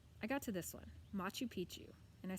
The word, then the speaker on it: Machu Picchu: people and places I got to this one Machu Picchu and I said something like Mac who picked you bad mouth she said Machu Picchu I thought she was nuts until my mom